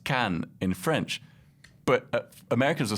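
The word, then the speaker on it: Caen: instance like can in france the town is pronounced can in french but americans will say khan because they think it's like the wrath of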